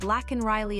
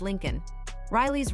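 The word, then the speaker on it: Laken Riley: the Union Address when he mispronounced lacken Riley as Lincoln Riley's Rome campaign Georgia Trump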